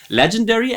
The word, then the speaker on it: legendary: Legendary as a 4-syllable word with the stress on the first syllable, legendary, right? We have got a strong L and a weak gendary.